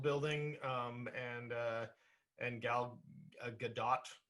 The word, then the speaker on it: Gal Gadot: um and uh and gal gadot i believe i think we do pronounce the t i think so i